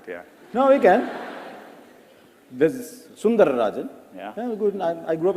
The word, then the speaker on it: Sundararajan: read about you, it said Sunder Pichai is Sundarajan, right? To give you the whole name. It actually was Sundararajan. No one could pronounce it, yeah. No, we can. There's Sundararajan.